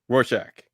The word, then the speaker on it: Rorschach: Say roar. Roar. Shack. Shack. Roar. Rorschach.